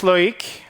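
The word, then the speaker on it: Loïc: My name is Loik. Uh, if you're wondering what are those two dots on the eye, it's either in French to force the pronunciation of the eye or everywhere else to test UTF8.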